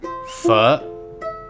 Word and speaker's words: phở: The name of this dish is pronounced fu, not fo. This dish is not your enemy. Fu like you're going to swear at someone, but cut short.